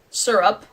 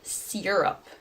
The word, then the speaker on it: syrup: I hate that mayonnaise syrup syrup maple syrup is a big thing where I'm from but when people say see Europe syrup like over pronounce the Y oh it just makes my skin crawl pajamas caught naturally aluminum